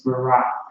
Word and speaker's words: Barak: Yeah, his name, the brother, how you say it in Hebrew is Barak.